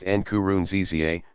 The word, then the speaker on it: Nkurunziza: Nkurunziza, pronounced Nkurunziza, who said he believed he was divinely ordained